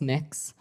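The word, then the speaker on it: Mx: what you're you're proposing it's pronounced mix um mix is that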